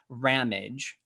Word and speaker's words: Ramage: conversation with rammage which rhymes with damage i just got that